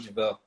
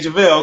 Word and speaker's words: Juvell: So how do you pronounce it? The way you said it, Jake Juvell. Okay, Jake Juvell. Okay. Look, y'all heard her. Don't mess up the Juvell.